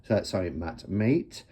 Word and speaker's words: Mate: So the 3 creators of Destiny decks is Mate. And I did ask him how he pronounced it, and he said it was mate, as in friend, not mate or mate or anything like that.